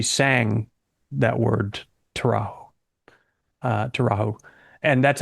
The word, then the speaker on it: Arido Taurajo: Uh terrau. And that's how she pronounces it um when she's singing it is terra. So, it's a J like is as in soft Spanish.